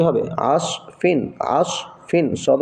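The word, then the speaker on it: عصف: সদ জবর আস ফা দুইজের ফিন কি হল আস ফিন আইন সদ জবর আস ফা দুইজের ফিন উচ্চারণটা কি হবে আসফিন আসফিন সদ উচ্চারণ করতে গেলে মুখবুল আসফিন আসফিন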